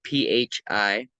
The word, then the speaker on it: phi: It's spelled PHI, phi.